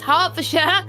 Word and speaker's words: Hertfordshire: We're seeing Hertfordshire, yes, Hertfordshire, Giles, into the pits.